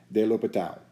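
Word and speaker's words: L'Hôpital: Guillaume Francois Antoine de L'Hopital.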